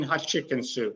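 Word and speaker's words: Hatshepsut: maggie in cairo says just say queen hot chicken soup like hot chicken and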